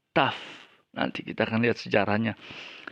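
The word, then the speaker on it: ταυ: Jadi bukan tai atau tahu, tapi taf.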